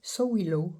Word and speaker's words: Sowilo: Donc c'est Sowilo, ça se prononce comme ça.